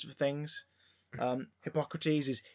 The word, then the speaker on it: Hippocrates: And maybe learn the correct fucking pronunciations for things. Hippocrates is Hippocrates.